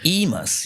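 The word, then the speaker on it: eMas: Am I pronouncing correctly? It's E.MAS, right? E.MAS, yeah.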